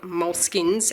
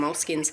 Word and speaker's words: Moleskine: There is no correct pronunciation. I went and I checked on the site and they say, no, this is a universal product. Pronounce it any way you like. I pronounce it Moleskines because it sounds more Italian because they're Italian, but most people call them moleskins.